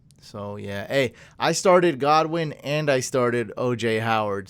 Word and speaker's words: Godwin: It's pronounced Godwin.